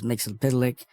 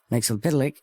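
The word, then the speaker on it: Mxyzptlk: was Superman there was Mixel pck and that's the way you say it Mixel pck more forget I did super boy so I certainly learned how to say it Mixel pic and even Supergirl okay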